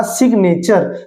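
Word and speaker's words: signature: यहां पे हमने पढ़ा सिग्नेचर। तो यहां पे देखिए जब ये अलग सिलेबल का काम कर रहा है ना तो ये जी अपनी साउंड क्रिएट कर रहा है।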